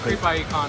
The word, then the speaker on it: Creep I.E. Con: much fun I love creepie con it's so much fun you pronounced it correctly yeah it was this creepy it's like you got to say it right yes in the inan